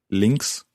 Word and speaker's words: links: okay what about left links links links okay that's sausages in the uk but anyway links links for left and right okay it's quite tricky the sound at the end there there's a at us